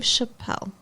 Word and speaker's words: Chappelle: named Dave Chappell Dave Chappelle oh is that how it's pronounced yeah like it's French I guess it's not spelled like Chapel it's spelled like Chappelle it's spelled like it's French he's a stand-up comedian